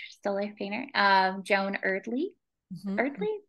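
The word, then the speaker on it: Eardley: Erdley, that's how you say her name.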